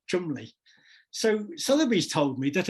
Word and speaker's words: Cholmondeley: It's spelt Cholmondeley, but I think they pronounce it Chumley.